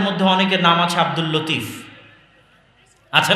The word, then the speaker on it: লাতিফ: আমাদের মধ্যে অনেকের নাম আছে আব্দুল লতিফ। আছে না নাই? আছে। আছে। এই লতিফের সঠিক উচ্চারণ হচ্ছে লাতিফ।